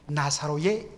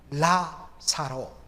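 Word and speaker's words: Lazarus: 그 비밀을 풀어줄 실마리는 다름 아닌 나사로의 이름의 뜻에 있습니다. 우리 한글 성경으로 번역했을 때 나사로, N 발음입니다. 그런데 이것은 사실 옳지 않고 정확하게 발음하면 라사로, L 발음입니다. L입니다.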